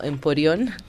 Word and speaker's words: emporio: Emporio es una palabra que viene del griego, que significa, o sea, originalmente se debería pronunciar algo así como emporión, pero viene del griego,